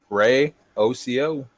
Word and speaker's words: Ryoko: Next up, we've got Ryoko. Is that how you pronounce that? That's how I pronounce it. Ray OCO.